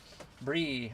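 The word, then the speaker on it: Bry: Your name is spelled like B R Y, but it said Bri.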